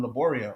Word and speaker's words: Laborio: how to say um laborio unless you had a latina teacher or latino they would pronounce it right spanish class was the